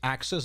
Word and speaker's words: axis: It's axis, not axes.